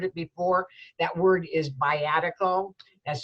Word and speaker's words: viatical: That word is biatical. That's spelled V as in Victor, I-A, T as in Tom, I-C-A-L.